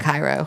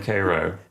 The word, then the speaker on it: Cairo: Um, we have Town of Cairo is really interesting. Um, not Cairo. I've heard you talk about this before. Cairo. Definitely Cairo. Um, I do a whole